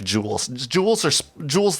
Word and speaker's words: JUUL: spell it jewel like jewels jewels or jewels the smoking tool are j-u-u-l jewel j-u-u-l project jewel uh yeah